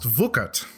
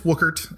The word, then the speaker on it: Wuckert: depends who you ask we have german family which would say it is pronounced vucat but i'm very much an american i was born and raised in chicago uh so it's it's wookert well there's no huge